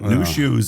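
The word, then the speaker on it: Nu Shooz: But New Shoes, and it's spelled N-U space S-H-O-O-Z.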